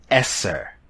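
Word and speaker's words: עשר: that very soon the Hebrew number 10 is pronounced Esser the tithe of Israel was termed Marseille that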